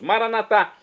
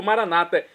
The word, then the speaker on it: maranatá: aramaico, dialeto de Jesus, maranatá, como dizemos nós católicos, ou maranata, como dizem nossos irmãos das comunidades evangélicas ou protestantes, nossos irmãos separados. Não importa o pronúncia, o significado é o mesmo. Vinde, Senhor Jesus.